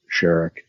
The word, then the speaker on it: Sharick: Instagram and YouTube are both my name's sherek and sherek is spelled SH a RI CK yes sherek